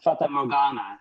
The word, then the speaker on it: Fata Morgana: How do you pronounce that? Yeah, Fata Morgana is how Okay.